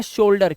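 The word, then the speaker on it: shoulder: ओ यू के बाद एल दिया हो तो ओ यू का जो उच्चारण है वो ओ का निकालना है आपको, जैसे सोल। इसी तरह से इसे पढ़ते हैं शोल्डर।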